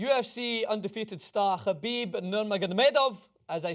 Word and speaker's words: Khabib: at UFC 205 and they were telling us how to pronounce it so is khabib as they like to say it um and I'm just